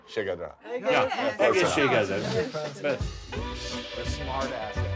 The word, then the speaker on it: egészségedre: I'll never learn to pronounce that. Just egészségedre. Shigedra.